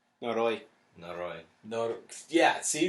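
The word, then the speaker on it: Noroi: called No nooy or Nori as you're calling it that's that's how you say it that's it's n o r o i noroy noroy nor yeah see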